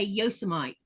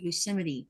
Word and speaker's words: Yosemite: Is I used to say Yosemite, and I was talking about Yosemite. Yosemite. Because because I didn't know any better. Yeah. I was saying Yosemite, and then when I went to California and I said that, Blue says, honey, that is not the way you say it.